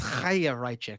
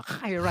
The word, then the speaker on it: Chaya Raichik: Well, we need to say it right. Come on, guys. It's a Jewish name. It's Chaya Raichik.